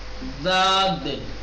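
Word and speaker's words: ضاد: دانت سے ٹچ کرو، داد، داد غیر المغضوبی، غیر المغضوبی جب آپ کہیں گے ذات کو جب تلفظ کریں تو زبان کے کنارے کو اوپر کے دانت سے تھوڑا سا ٹچ کریں، ملائیں کنارے کو، ٹھیک،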